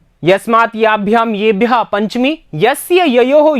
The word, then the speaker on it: यस्मै: तृतीया, ये यस्मै याभ्याम येभ्यः चतुर्थी, ठीक है, यस्मात् याभ्याम येभ्यः पंचमी, यस्य ययोः येषाम षष्ठी, यस्मिन् ययो येषु सप्तमी, ठीक है।